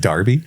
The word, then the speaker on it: Derby: It's pronounced Darby.